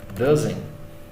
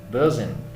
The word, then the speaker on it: doesn't: Ou, como o gringo fala, ele não fala o T, doesn't. Tá? A pronúncia aqui, doesn't.